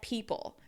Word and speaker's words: people: So now let's take a look at people. People. Even though people is two syllables, we need to have that shaping between the E and the O.